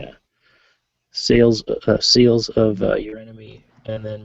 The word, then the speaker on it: Eurynome: So he would have looked into the seals of Eurynome, or however you pronounce that, Eurynome. Eurynomy? Yes, Eurynome.